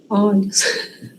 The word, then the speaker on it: olhos: Quando é singular, tem som fechado, né? O. E quando vai para o plural, muda a pronúncia. Vira ó. Então, ansioso, singular. Ansiosos, plural. Bondoso, bondosos. Curioso, curiosos. Olho, olhos, né?